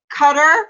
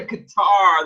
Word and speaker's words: Qatar: my life oh really they always also say um what is it cutter for qatar it's really qatar they always say cutter now and i know i've actually been to qatar that one i know